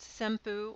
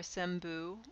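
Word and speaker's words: 先負: This combination can be pronounced senpu or senbu or senmake or sakimake, take your pick. This is supposed to be the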